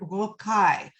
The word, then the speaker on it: rocaille: Now, the word Rococo comes from the word rocaille, and that is spelled Rocaille.